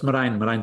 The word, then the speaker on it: Merijn: So in Spain, they call me, which is the furthest away from my original name I think you can get. So anything between that and the original pronunciation is totally fine with me. But it's Merijn. Merijn.